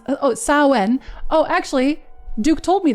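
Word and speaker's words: Samhain: Sam Hain approximately pronounced Oh, Sen.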